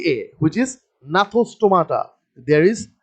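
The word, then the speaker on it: Gnathostomata: g first is g which is the silent g but the spelling is g n a t h o s t o m a t f t a which is natha stomata there is g is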